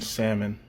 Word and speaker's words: salmon: She pronounced the L in salmon, and I just see red every time I hear someone do that.